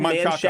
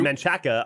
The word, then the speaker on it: Manchaca: You would If think you said Manchaca. Manchac, I wouldn't think you were weird. Right. If you said Manchaca, I'd be like, oh, you've never been to Austin before. Right. Welcome to Austin.